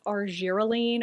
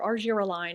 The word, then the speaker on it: argireline: Botox and a bottle that's arelene or argireline I've heard to pronounce both ways it's actually the brand